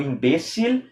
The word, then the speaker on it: imbécil: Daí o imbécil tem acento no E, né? No português não tem porque é imbecil. A sílaba mais forte é a última.